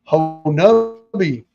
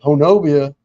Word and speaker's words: Honobia: And the people of Honubi told me not to tell anybody the correct pronunciation. So when people come in there to the Bigfoot store down there and say Honobia, they'll know who the tourist is and who the real people are.